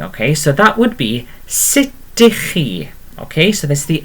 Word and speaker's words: sut ydych chi: And I put formal in brackets underneath, and then it's literally sit. Okay, so literally, okay, sut ydych chi?